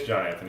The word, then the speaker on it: Johnanthony: And is it Johnanthony, or is it pronounced differently? It's Johnanthony. It's all one word.